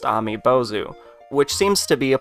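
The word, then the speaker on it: アメボウズ: looked at the creature's name in Japanese is pronounced amibozu which seems to be a play on the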